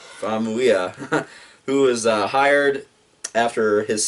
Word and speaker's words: Famuyiwa: Here, you want to try to pronounce that? Yeah, sure. Famuyiwa. Famuyiwa, who was hired after his success with the Sundance sensation Dope.